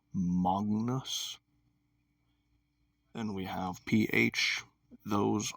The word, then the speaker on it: magnus: So, for example, you would not say in Latin magnus, even though it's spelled like that. You'd say magnus.